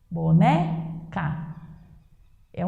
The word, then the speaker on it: boneca: Boneca é o né, mas não há acento.